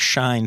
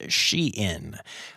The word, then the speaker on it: Shein: uh it is pronounced shein um even though it is spelled kind of like shine it is she in fashion and I guess it's